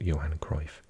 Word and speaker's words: Johan Cruyff: in Amsterdam of course on the Johann Cliff arena in English we often pronounce it Johan Cruyff Arena um also previously known as the Amsterdam Arena 55 865.